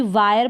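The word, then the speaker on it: wire: इसको भी वायर पढ़ेंगे, विर करके नहीं पढ़ेंगे कि आई को जो है ई पढ़ दें।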